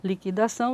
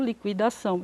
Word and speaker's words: liquidação: muitas vezes acontece que nós temos dupla prosódia duas maneiras de pronunciar uma palavra liquidificador liquidificador certo liquidação liquidação então é a dupla